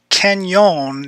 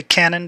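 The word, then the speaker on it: Cañon: Here we are on Canyon is the way locals pronounce this. A lot of people say Cannon, but it's really right next to Saucil Creek, so it's the Spanish word Canyon for canyon.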